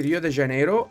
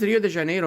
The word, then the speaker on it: Rio de Janeiro: Rio de Janeiro or should I say Rio de Janeiro how do you say I guess it's Rio de janeo in Portuguese right it's j Rio I